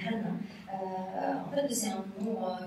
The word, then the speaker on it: Hana: D'abord pour le nom Anna, on prononce en japonais Hana.